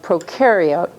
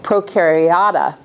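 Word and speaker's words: Prokaryota: biologists have renamed Monera procario let me say it right procariota and so if you ever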